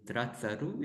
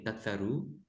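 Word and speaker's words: ตรัสรู้: Here they omitted the R because many times in colloquial language, they Thai omit the R. So they just say Tatsaru.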